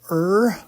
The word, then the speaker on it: Ur: And he was living in this place called Ur, which is spelled U-R, in Ur.